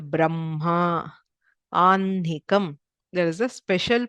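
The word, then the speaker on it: ब्रह्मा: Okay, we don't pronounce this as Ahnikam, even though the h is written before, it is pronounced as Anhikam, Vanhihi, Madhyanha, Aparanha, Brahma. So everywhere the Anunasika sound comes first and then the h, which is slightly toned down.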